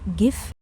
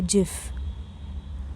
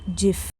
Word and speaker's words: GIF: Do you call it GIF? No. Say GIF. Say it with a J sound, GIF.